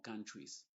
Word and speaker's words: countries: e Con la s donde la e es muda y vamos a pronunciar como countries family families y existen